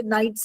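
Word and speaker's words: knight: हम पहले जमाने के नाइट्स एंड नोबल्स नाइट्स वो होते थे दे were the soldiers they used to फाइट ठीक है एंड उनकी स्पेलिंग के से स्टार्ट होती है। बट the sound is नाइट।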